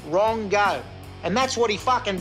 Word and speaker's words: Rongo: You know, Rongo, he pronounces his name fucking Rungu, whatever they say in their Maori language. But fuck, I tell you, in Australia, it's pronounced Rongo.